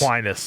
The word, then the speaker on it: Aquinas: Aquinas. Yeah, that's what I and thought it I am was. taking them. I'm taking Yeah, Aquinas. same. I was going to go Same. Aquinas.